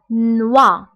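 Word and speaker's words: noix: دونك هنا نوا نوا. بالنسبه هنا اكس لا ننطقها. دونك نوا هو الجوز نوا.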